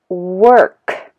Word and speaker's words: work: that protruding okay but if I say work work my mouth you know protrudes a little bit okay pronoun pronouncing the r sound or work okay so